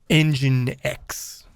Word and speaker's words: nginx: one these days is engine x which i mean apparently you pronounce this engine x i don't know we talked about this last time it's weird but anyways so we want